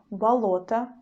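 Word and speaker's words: болото: that we already saw the word balota balota balota you see the stresses in the middle but the wobble after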